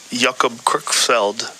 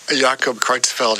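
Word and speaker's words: Jakob Creutzfeldt: when they get that jacob crook felled jacob kreutzfeld yeah yeah thank you for pronouncing that better well when i was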